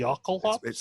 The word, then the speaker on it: Jokulhaups: is it's actually pronounced like a Y. Yuck. Yeah, Yeah, exactly. Like it's supposed to yo. be like It's Jokulhaups.